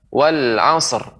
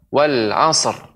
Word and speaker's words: والعصر: Maka tidak boleh langsung kita mengucapkan wal asr, wal asr. Maka ini kurang tepat. Pengucapan wal asr. Karena kita di sini mengucapkan sad menjadi qalqalah wal asr.